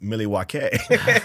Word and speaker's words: Milwaukee: have you they're saying something about milwa mil Milwaukee yeah yeah and like oh actually it's pronounced milake and they like and they all just they're